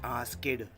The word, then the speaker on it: asked: They say asked, which is totally wrong. It is not asked, it is asked. K is silent and ed is soft T.